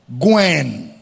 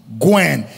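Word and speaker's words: γυνή: The word woman is a Greek word, gwen. Gwen. G-U-N-E. Gwen. Is spelled as G-U-N-E, is pronounced as G-Y-N-E, Gwen.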